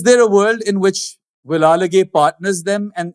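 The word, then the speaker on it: Wellalage: A lot of people, including myself, were calling him Velalage. Then turned out he was Vilalage.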